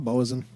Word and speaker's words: boatswain: he like a human do i not know what a boson is spelled botswane yeah boatswain it's a job on a ship i'm a stupid man